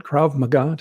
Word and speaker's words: Krav Maga: over the years can you can I get pronunciation right KRA magah you got it right so for those that